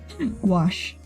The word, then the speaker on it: gouache: I am I saying it right now gouache wash thank you Omega um I actually heard that